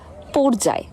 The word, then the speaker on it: পর্যায়: সহজভাবে বলি আরেকবার, যদি অ এর পরে রেফ যুক্ত অন্য কোনো ব্যঞ্জন বর্ণ থাকে অন্তস্থ জ বাদ দিয়ে, তাহলে তার উচ্চারণ অবিকৃত থাকবে। আর যদি অন্তস্থ জ থাকে তাহলে ও এর মতো উচ্চারণ হবে, যেমন চর্যাপদ, মর্যাদা, পর্যায়।